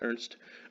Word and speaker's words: Ernst: But Ernst Rutherford, they spell it Ernest, his name is Ernst.